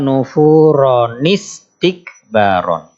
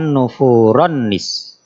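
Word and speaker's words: نفورا استكبارا: Jadi kalau misalnya di akhir ayat 42 tidak berhenti, membacanya illa nufuronistikbaron. Illa nufuronistikbaron. Bukan nufuronis.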